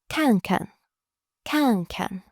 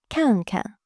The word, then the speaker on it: 看看: The first 看 is fourth tone, so your voice drops sharply. 看. The second 看 becomes neutral tone. Together, 看看. Notice how the second syllable is much lighter and shorter.